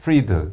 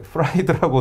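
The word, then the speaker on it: Fried: 그리고 아까 말씀드린 대로 이 FTX의 CEO는 샘 뱅크맨 그러니까 프리드. 그러니까 프라이드라고 써놓고 프리드라고 읽더라고요.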